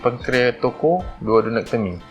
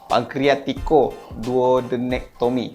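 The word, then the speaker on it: pancreaticoduodenectomy: Hmm (pretending to understand everything but actually has forgotten everything learned in medical school) So he mentioned, <i>Laparoscopic, Pancreatoco, Duodenectomy</i> It's not pancrea<u>toco</u> Kamal, pancrea<u>tico</u>-duodenectomy. Say it properly.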